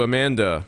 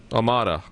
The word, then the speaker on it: Amada: All right, let's go to Amanda in Parrish. Amada.